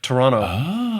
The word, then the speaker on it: Toronto: Just be careful with that second tea. I' I've heard the Toronto people, they they say it more like Toronto. That second T. It's a real soft T.